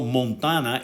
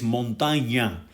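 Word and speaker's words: montaña: misspelled the name because it is not montana it is montagna uh in the english language the the apostrophe on top of the end does not it does not exist so they spell it montagna without the apostrophe so it's called montana it's a it's an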